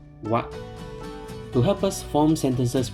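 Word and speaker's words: は: Take note when the hiragana character ha is used as a topic indicating particle, it is pronounced as wa.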